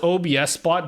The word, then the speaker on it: OBSBOT: tracking but obsbot it's it's spelled obsbot but they're very adamant that it's pronounced obsbot how do you think about